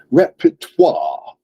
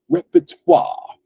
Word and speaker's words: repertoire: so that word is repertoire repertoire right it's a French word so that ending is not pronounced the way that English speakers will pronounce an English word right it's pronounced repertoire repertoire right like a sort